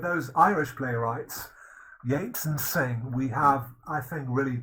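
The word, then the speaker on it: Synge: the victorian era then we have john millington singe uh it's uh it's spelled singed but it's pronounced sing actually he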